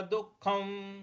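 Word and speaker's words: दुःखम्: देखिए, यहाँ पे दुख, दु के आगे जो विसर्ग है इसका, इसके आगे ख है तो यहां पर आधा ख का हमको उच्चारण लाना है, दुख ऐसे बोलना है।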